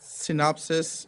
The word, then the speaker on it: Synopsys: we have Christopher Clark, who is a 22-year veteran of the information technology world, is a principal security engineer at Synopsys Incorporated. Did I pronounce that right?